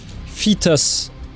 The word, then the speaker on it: Phaetus: So it was the nozzle fetus. I don't know if there is any way to pronounce that good.